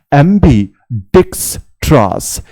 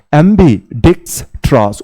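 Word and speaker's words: ambidextrous: অ্যাম্বি ডিক্স ট্রাস, অ্যাম্বি ডিক্স ট্রাস। উচ্চারণটা এরকম ভাবেই করবে, সবার প্রথমে অ্যাম্বি, তারপরে বলবে ডেক্স, তারপরে বলবে ট্রাস।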